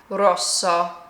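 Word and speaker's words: rosso: Roso. Roso. So, I'm just holding that S a little bit longer.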